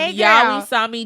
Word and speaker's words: Yawi Sami: So shout out to our girl Celeste from Yawi Sami Designs. Okay. From so what? Yawi Sami. That is how you pronounce it.